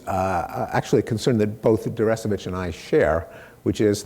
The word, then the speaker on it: Deresiewicz: There was a book that came out last year called Excellent Sheep by a man whose name I can't pronounce, William Deresiewicz? Deresiewicz, okay.